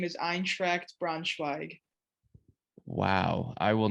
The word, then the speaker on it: Eintracht Braunschweig: the city braunschweig and the club's name is eintracht braunschweig wow i will not try to say that